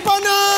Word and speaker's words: Pannu: आगे पन्नू, पी A double N यू बात खत्म।